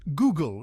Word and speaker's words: Google: and refreshing Google it's Google with a hard G no Giggles it's Google